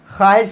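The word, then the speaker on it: خواہش: वाओ wow silent है। ख्वाहिश पढ़ेंगे।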